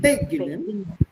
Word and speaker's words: beginnen: Beginnen. Not beginnen. Beginnen. So when there is a non-separable prefix, don't put your accent on the prefix, but on the word itself.